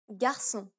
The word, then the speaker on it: garçon: The final accent is the cedilla, and it only applies to the letter C. S, This causes the letter C to be pronounced as an S sound. garçon, je lançais.